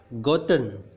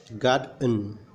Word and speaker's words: gotten: Jadi kalau ada yang membaca gotten, gotten salah. Cara membacanya yang benar adalah goden.